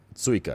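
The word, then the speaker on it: țuică: Tsuica, it's spelled T-U-I-C-A. But the T in Romanian has like a little, what's this? Tier 2 strength. It has like a little tail under it, and it's pronounced T. It's like a T-S sound.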